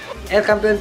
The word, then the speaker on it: El Campeon: And then El Campeon, ay aliwala man, El Campeon Pigeon Feeds, yun ang tamang pronunciation mga kalapati.